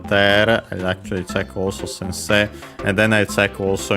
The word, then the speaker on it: sensei: Actually the uh suffix uh sensei sensei uh accented on the second uh set. So on the technically last syllable because of of course the e uh